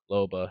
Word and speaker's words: Loba: Loba? Loba, yeah. Loba. Okay, cool. Just want to make sure I Um, got that pronunciation down.